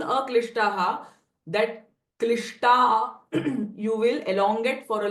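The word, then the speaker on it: क्लिष्ट: So instead of saying a klishtaha, that klishta you will elongate for a little further. Klishta klishtaha. And this S with a dot underneath is a retroflex sh sound.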